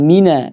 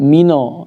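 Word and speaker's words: مِنَ: Kemudian mina, tidak mino ya. Minasyaiton.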